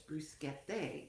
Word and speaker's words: bruschette: And it's actually, when you pronounce it plurally, it's bruschette.